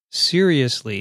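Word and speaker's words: cereus: He writes, another satisfied listener, good work, seriously, and that's spelled C-E-R-E-U-S.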